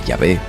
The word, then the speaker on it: Yahvé: Los expertos coinciden en que Yahvé es probablemente la forma más cercana al original, pero como el hebreo